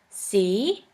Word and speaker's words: sie: The next letter combination is IE, which is simply pronounced like E. For this letter combination, we have the example of the word see, which means you.